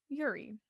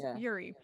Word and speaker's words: Yuri: someone named yuri right y-u-r-i yuri right that's how you would say it like americanized i guess yuri but because they're korean they pronounce it yuri so oh okay first